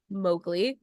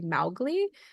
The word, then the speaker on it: Mowgli: young boy named Mowgli, who apparently that is pronounced wrong in the movie. Apparently it's supposed to be Mowgli, according to Rudyard Kipling, who wrote the short stories that Jungle Book is based on.